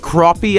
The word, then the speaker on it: crappie: It's pronounced crappie, actually.